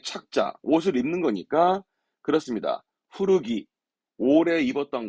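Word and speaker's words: 古着: 후르기, 오래 입었던 거, 즉 헌옷을 후르기 하는 거죠.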